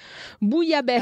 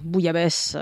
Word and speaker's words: bouillabaisse: Yeah, and I think the problem here is the spelling. Bouillabaisse is a Bouilla. Bit. But that is that O U I L L. You have to really learn how to pronounce that. And then once you do, it's in a bunch of words. You know? Yeah. But it is a kind of strange thing to realize you see all those letters and it goes bouille.